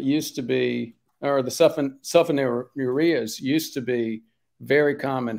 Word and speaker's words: sulfonylurea: There are medications right here that are called sulfonylureas. You might be familiar with those. And we'd usually pronounce it sulfonylurea.